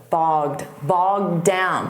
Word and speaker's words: bogged down: And notice that pronunciation, bogged. Bogged down, because when you say the D from down, you won't hear it so much on the past simple of the verb bogged down.